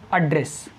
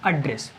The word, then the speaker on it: address: जब इसको हम नाउन के यूज में, नाउन के रूप में जब इसका हम प्रयोग करते हैं तो इसको हम बोलते हैं एड्रेस, यानी पता। तो ये एज ए नाउन फंक्शन करता है और वो स्पेलिंग वही होती है ADDRESS। और इसको हम जब वर्ब के रूप में यूज करते हैं तो इसका सही उच्चारण होता है एड्रेस।